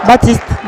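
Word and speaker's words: Baptiste: golden gory against Pier batist Pier batist took bones at Paris gam in 2017 it's it's hard to say because Pier dpra and then PTI batist don't pronounce the P Baptist batist yeah but that's his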